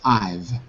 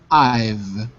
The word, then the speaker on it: I've: I have just finished I've I have I have just finished that's it yeah I keep hearing you say I have but here don't pronounce the have just one syllable I've I that's it